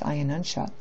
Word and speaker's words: Ayanamsha: Sometimes it's spelled like Ayanamsha, but the correct pronunciation is Ayanamsha.